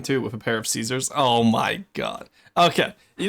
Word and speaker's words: Caesar: I'm going to ruin Tiny's joke here, chat, cuz that word is pronounced Kaisar because uh classical Aladdin, like Roman Aladdin, wouldn't have had any softies.